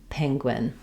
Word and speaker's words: penguin: Um, so think about wingwin. Penguin. Penguin.